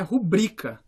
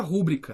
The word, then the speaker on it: rubrica: E o acento, a sílaba tônica é no bri, então é rubrica. A palavra é rubrica, não existe palavra rúbrica, tá errado.